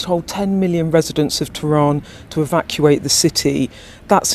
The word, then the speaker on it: Tehran: Right, so let's start with her mispronouncing Tehran as Tehran, and then she mispronounces imminent as imminent.